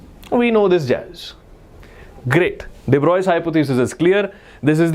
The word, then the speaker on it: de Broglie: This guy is pronounced as de Broglie, French scientist.